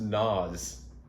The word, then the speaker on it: Nas: So without the asterisk, or not the asterisk, but the symbol here, it is actually pronounced Nas. Like gnaw, but with a Z.